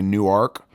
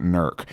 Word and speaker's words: Newark: UPS packages nerc but if you're not from here you might say new arc or if you're from New Jersey you probably know Newark but if you live here in Newark Ohio you pronounce it nerc but you can come